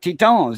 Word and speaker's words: Tetons: Yeah, the Grand Tetons. Yeah, that's French for titties. And that was a French explorer that named that range the Grand Tetons. That's how it's pronounced in French, the Grand Tetons.